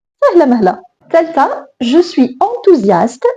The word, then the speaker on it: enthousiaste: عندنا هنا واحد اس entre deux voyelles. ما كتعرفوا اس إلا كانت entre deux voyelles راه كتنطق ز. هذه هنا voyelle يعني enthousiaste. هنا اس entre une consonne et une voyelle donc غادي هذه تولي غادي نطقوها اس وغادي نطقوها زد. Je suis enthousiaste.